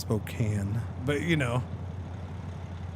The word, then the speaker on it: Spokane: It's actually pronounced Spokane, but you know, it's spelled Spokane.